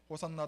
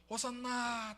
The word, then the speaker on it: 호산나: 사람들은 호산나 다윗의 자손이여 찬송하리로다 주의 이름으로 오시는 이여 이렇게 막 소리 높여서 가장 높은 곳에서 호산나. 이 호산나의 뜻이 뭐냐 그러면 호시아나라는 히브리어의 헬라식 발음이에요.